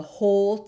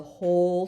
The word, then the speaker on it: whole: He was the only doctor in the whole town. So when we read this word, the W is silent. The whole town.